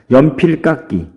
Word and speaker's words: 연필깎이: 연필깎이. 연필깎이 어떻게 발음합니까? 끼 이렇게 발음하죠.